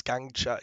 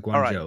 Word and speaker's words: Guangzhou: but I think it's Guangzhou. Guangzhou. I'm not. I think the last syllable is like Joe. That's the one that I remember the most, like Guangzhou.